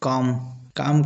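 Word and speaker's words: calm: Example काम का spelling इस प्रकार से होता है किंतु पढ़ा इस प्रकार से जाता है। इसमें भी एल साइलेंट हो जाता है।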